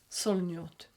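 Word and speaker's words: Solognote: to butcher this but I think you pronounce it song note it's Sol OG n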